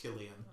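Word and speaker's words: Cillian: yeah uh who's the head of aim yeah killian murphy that's uh that's the actor who plays scarecrow oh yeah i think it's spelled with a c but it's pronounced killian uh he's probably i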